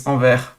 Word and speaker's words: Anvers: In French, it isn't pronounced, it's Anvers. And since I'm French, I'm sorry, but I'm going to be pronouncing names the French way.